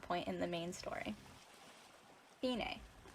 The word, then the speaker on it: fine: a central plot point in the main story finay how the unit name fine is supposed to be pronounced most people i'm pretty sure call them fine hence the distinction mika and suzu are twins